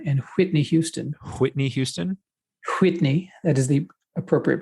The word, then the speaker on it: Whitney: Whitney. That is the appropriate pronunciation for her name.